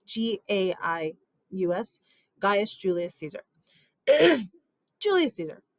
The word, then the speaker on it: Gaius: His first name is Gaius, Gaius, Gaius Julius Caesar.